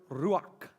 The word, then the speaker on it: ruach: The Hebrew word is the word ruach. And then you spell that R-U-A-C-H.